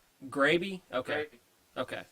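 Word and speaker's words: Graebe: Gravy. Gravy? Okay. Gravy. Okay. Just like Betty Grable, only without the L.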